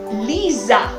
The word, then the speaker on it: lisa: muy bien otra palabra lisa lisa cuál es la tentación que puedes tener nos ves la palabra y se inscribe como en español y tienes la tentación de pronunciarla como en español pues no ahora tú escuchas como